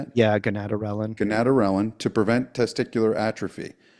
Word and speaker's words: gonadorelin: So, uh 4 months on TRT and the doctor put me on How do you say gonadorelin? Is that how you say that? Yeah, gonadorelin.